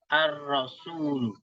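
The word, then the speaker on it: الرسول: Dimulai kalimat ini, paragrafnya dengan kata ar-rasul. Ar-rasul. Ini huruf ra awal pasti di fathah ra. Sinya pasti di dhamma su. Wawunya pasti di sukun. Adapun lamnya tergantung kedudukannya dalam kalimat atau jabatannya dalam kalimat.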